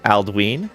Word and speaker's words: Aldwin: Aldwin is pronounced Aldween because of the long vowel sound on the Y.